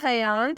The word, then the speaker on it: Hayyan: नाम है हयान, spelling है HAYYAN।